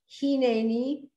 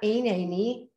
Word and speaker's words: Hineni: I've also heard Hineni, not Einani. So is that the same? Sorry, Hineni, that's what I said.